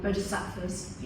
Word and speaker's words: bodhis: It's when you mentioned that the borders the people bodis. Yes. How do you spell that?